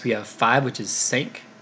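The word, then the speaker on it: cinq: have five which is sake kind of pronounced like the American word sank which is why I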